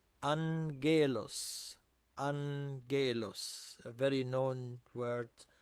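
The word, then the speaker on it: ⲁⲅⲅⲉⲗⲟⲥ: Here repeated gamma is pronounced as n followed by a g. So, we say angelos angelos.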